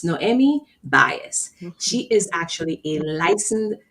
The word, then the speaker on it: Noemi Baez: But I'm going to go really slowly to make sure I pronounce her name properly. So it's Noemi Baez.